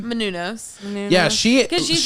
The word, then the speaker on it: Menounos: How do you pronounce her last name? Menounos.